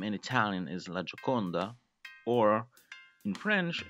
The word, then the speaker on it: La Gioconda: Well, we call it the Mona Lisa, but its actual name in Italian is La Gioconda, or in French it's called La Joconde.